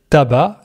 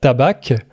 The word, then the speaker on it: tabac: Attention, en français, on ne prononce pas le C. tabac et pas tabac.